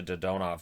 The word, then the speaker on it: Dadonov: who has now changed the way that is pronounced from dadmob to dodonov which makes sense i think a lot of